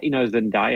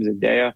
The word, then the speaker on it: Zendaya: Zendaya, ever pronounce her name? Zendaya.